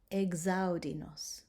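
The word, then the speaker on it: exaudi nos: X in words beginning with an EX that are followed by a vowel or an H or an S will be pronounced Gs, Gs, instead of X.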